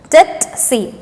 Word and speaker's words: tsetse: Don't spell it as Tsetse, okay? It is Tsetse.